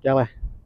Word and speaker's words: Gele: Aber meaning estuary, and Gele, pronounced Gele as well, so yeah, we say Gele.